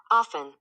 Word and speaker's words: often: Often. Often. Yeah. I mean, it's Often. Hear it? I don't hear her saying the T.